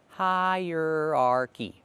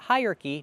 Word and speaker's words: hierarchy: Hierarchy. 4 syllables. Not hierarchy, not 3, but 4. Hierarchy.